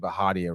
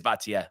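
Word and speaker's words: Bhatia: so by the way I think we've been pronouncing bajia wrong what is it btia B it is baa I've heard them say that yep so good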